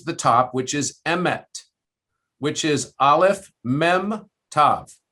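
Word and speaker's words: אמת: And so basically they would stamp Aleph, Mem, Tav on top of the head, which interestingly is pronounced Emet, Emet.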